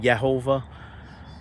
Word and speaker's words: Jehovah: So all praise go to God, Jehovah, Yahweh, all praise, or some people pronounce it Yehovah, the one true God.